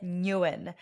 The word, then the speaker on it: Nguyen: So my full name is Nguyen. That's how I pronounce it, although it's a Vietnamese surname.